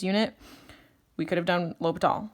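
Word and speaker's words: L'Hôpital: If you have an indeterminate form, la hope L'Hopital. I can hear Emily yelling at me now for pronouncing that. It's the hospital without the S. If you have 0 over 0, L'Hopital, 100% of the time.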